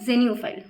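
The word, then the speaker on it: xenophile: So actually ये नो पूरा नहीं निकलता है, आई कैन say that जेन्यूफाइल, right, new, जेन्यूफाइल।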